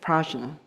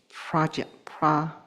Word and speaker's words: prajna: And those are in union with prajna. Oh, actually, I think the more accurate pronunciation is pragya, I think.